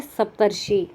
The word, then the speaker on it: सप्तर्षि: इस र का उच्चारण जो है इस शी से पहले होता है, इस तरह से ये बन जाता है सप्तर्षि।